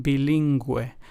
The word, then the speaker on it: bilingüe: So, as we can hear the u with the two dots, the dieresis accent mark in Spanish helps us give that gui or güe sound and pronunciation in words. In pingüino it would be the gui sound and then in bilingüe it would be the güe sound.